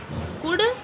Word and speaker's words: could: Could, L silent.